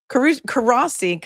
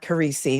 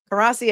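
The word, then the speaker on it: Courossi: I'm gonna say Karasi asked not like not Karesi, not like Karesi in SVU cuz he's a good guy. Karasi asked the victim questions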